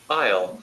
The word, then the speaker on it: isle: ஏ இருந்தாலும் ஐல் தான், Isle. ஏ இல்லைன்னாலும் ஐல் தான்.